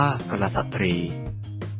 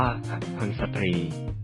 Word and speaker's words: กุลสตรี: ว่า กุลสตรี อ่าน ว่า ค สตรี ถ้า ใคร อ่าน ว่า คน สตรี ผิด นะ ครับ คำ ที่ 9 คำ